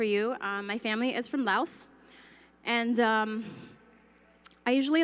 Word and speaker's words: Laos: And the other thing I have to tell you is that Laos is actually pronounced Lao, the S is silent.